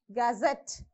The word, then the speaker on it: gazette: Here also same rule follows, last syllable. So you have to stress on the last syllable. Gazette, Georgette, kitchenette.